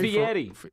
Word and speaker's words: Fieri: Fieri. Fieri. Is it? It's Guy not Fieri. It's not I don't know what his Fieri.